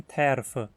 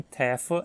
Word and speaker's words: terfe: Talvez alguns falantes até falem terfa, mas é comum que esse R não seja pronunciado. No meu círculo de falantes de Hunsikiano, ao menos, o R em tefa é sempre mudo. O R também é mudo